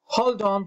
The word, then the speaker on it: hold on: frases hold round pues ese hold y el on se pronuncia como si fuera un solo sonido una sola palabra hold on place one moment place